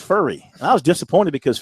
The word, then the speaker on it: Furry: We've been calling him Fury since he got here. Now it's pronounced Furry.